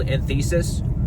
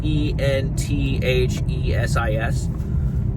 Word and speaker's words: enthesis: how you pronounce it's e n t h e s i s enthesis I think is what it's called enthesis I don't know I've just read it I've never heard it pronounced so but it's inflammation